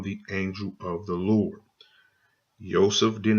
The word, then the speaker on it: Yosef: 2501 and it says the correct transliteration he is Yosef there's the pronunciation Yosef and as you can